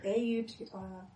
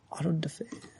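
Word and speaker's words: auto-da-fé: It's AUTODEFE with an accent. D-A. D-A. With a apostrophe accent on the fe. Auto de fe.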